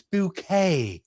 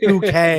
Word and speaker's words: Bucket: She'd be like, Doctor, Mrs. Bucket, it's Bouquet. Okay. It's pronounced Bouquet.